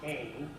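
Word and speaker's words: ἕν: So, hen, pronounced ain, the one.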